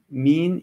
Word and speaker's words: mean: ¿Cómo se pronuncia mean y man? ¿Nos ayudas? ¿Mean y man? Mean, como she's very mean, y man. Mean. Entonces, bueno, mean sería una pronunciación un poco más alargada. He's mean.